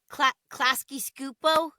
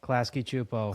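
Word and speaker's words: Klasky Csupo: The is it Klasky Scupo? Klasky Scupo? I always say it wrong, Klasky but Chupo. Klasky Chupo. Klasky Chupo.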